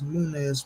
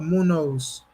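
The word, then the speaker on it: Muñoz: Why can I pronounce Munez right? It's Munez, right? Or Munoz.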